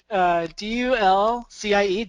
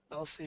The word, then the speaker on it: Dulcie: D-U-L-C-I-E, Dulcie? Dulcie? That's how I'm going to pronounce it. You're on your own. I like Dulcie. What is it? Dulcie. So Dulcie is how, how it looks.